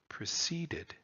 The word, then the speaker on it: preceded: in line 1 there, preceded. And there the accent is on the second to the last syllable, so you have shorts on both sides, and so it fits perfectly into iambic meter.